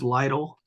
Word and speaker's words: Lytle: It's uh my first name is J R- and my last name is Lidle. It uh it sounds like it looks like little but it sounds like title.